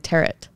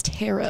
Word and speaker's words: tarot: how you say it in my head I was saying teret I think it's tarot tarot oh tarot cards t